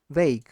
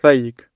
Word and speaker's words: vague: Vague vague. Vague the pronunciation. Yes, but I wanted to pronounce it vagu which is absolutely incorrect. Yeah, vague. This is the correct pronunciation and that's what is